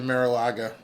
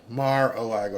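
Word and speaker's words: Mar-a-Lago: to the party maybe maybe he overslept in Maraga marago I keep getting yelled at if I say I pronounce things wrong sometimes people get mad Mar aaga okay don't don't text me um so somebody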